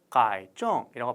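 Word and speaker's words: 改正: 여러분들 우리가요, 저 파란 색깔 글자 가이정이라고 발음합니다. 가이정.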